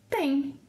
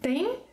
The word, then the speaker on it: têm: Vocês, eles e elas, tem. So again, tem, tem, have the same pronunciation, and the accent or